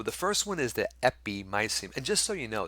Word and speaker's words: epimysium: just so you know some people say epimesium you know perimysium that's fine i guess i usually pronounce it miceum that was the way i taught the way i understand it to be pronounced but i do hear people saying epimesium basically this is a